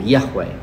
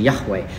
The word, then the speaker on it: Yahweh: of God and so it was only much later that the vowels came in and and now we have this pronunciation Yahweh make an attempt to